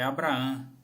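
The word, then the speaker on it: Ἀβραάμ: é escrito em grego a pronúncia é abrahan abraço não e sempre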